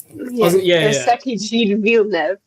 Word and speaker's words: Circuit Gilles-Villeneuve: I'm like, wow, look at me, I can pronounce it in French. But you have to give a demonstration now. Circuit Gilles-Villeneuve.